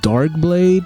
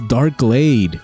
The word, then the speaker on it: Darkglade: Yo, Darkblade? Really? Wait, I said the name wrong. It's Darkglade. Yo, this fusion is off the hook.